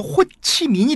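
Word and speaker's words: Hồ Chí Minh: 갖는 다 그런 뜻입니다 그래서 우리나라 발음으로 후 지명이 조 호 지명 호지 명이고 그 베트남 발음으로 호치민이 되겠습니다 그 사람들은 뭐 우리 에서는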